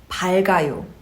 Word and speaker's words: 밝아요: It becomes 밝아요. And now in this case, I pronounced the former consonant, which is 리을, not 기억.